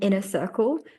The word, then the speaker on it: Winner Circle: And then obviously I've got my retreats and it's like the inner circle, but the W is silent.